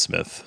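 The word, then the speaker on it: Smythe: that's almost SMI right no no but it's pronounced Smith but they're just like them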